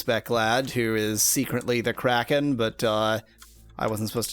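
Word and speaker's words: Crazkin': It's pronounced Kraken, says Spec.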